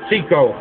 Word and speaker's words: CYCO: Central Yiddish Cultural Organization, CYCO, pronounced CICO.